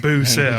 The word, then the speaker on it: Roussel: says, I know y'all ain't Cajun coon-ass, but sounds like Boo-cell.